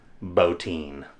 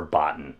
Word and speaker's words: Bottin: production drawings of one Robert botin or Boton as a lot of people mispronounce his pronounce his name but I can't even talk mispronounce his name anyway probably the most